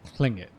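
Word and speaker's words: Tlingit: if the T is silent. But the way that she said it in the verbal context was Klingit. Hmm. There was a C, Klingit, yeah. That's what I heard anyway.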